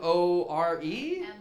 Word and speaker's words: Moore: Now, is it More? Moore.